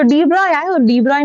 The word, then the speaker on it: de Broglie: अह NCERT में लिखा है कि हम उसको प्रोनाउन्स डिब्रॉय के तरीके से करते हैं। बट लोग डीब्रोगली पढ़ते हैं जिन्होंने एनसीईआरटी नहीं पढ़ी होती। तो, लैम्ब्डा डीबोगली नहीं डीब्रॉय = h / mv.